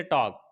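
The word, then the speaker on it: talk: है इसी तरीके से टॉक टॉक के अंदर भी ऐसा ही है के से पहले एल ए गया है तो ये भी साइलेंट हो जाता है आगे एग्जांपल देखते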